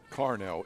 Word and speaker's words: Carnell: Carnell, it is an A, so I am pronouncing it correctly.